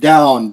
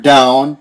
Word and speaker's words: down: And now, okay, also the word down. Be very careful with this word down. Down. Yeah, that you get the N on the end.